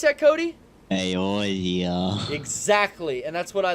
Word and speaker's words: Eorzea: pronounce that, Cody? Eorzea.